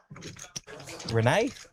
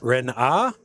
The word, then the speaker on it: Renard: We've got a new dealer at the table, Renee. I don't know. Renee. Let's go with Renee. Come on, Jamie, you're killing me here. Pronunciation there is Renard.